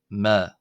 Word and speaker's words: ⲙⲉ: epsilon here or the which is this letter e which of course in Greek and Coptic is derived from the Greek letter epsilon uh is pronounced as a short a. So it's the shorter version of the letter add ad. uh and it is pronounced ma.